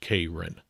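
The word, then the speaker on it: Keirin: k e i r i n but it's pronounced kin all right uh it's an Olympic sport what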